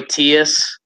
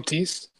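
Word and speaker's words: Theis: we really think like, my boy Tias, if that's how you say it, is going to get buckets? I mean, Daniel Tice. I think yes. Tice. I think it's Tice.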